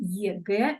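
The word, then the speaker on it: ЕГЭ: I'm pronouncing it like in Russian one, EGE, and this is of course again abbreviation.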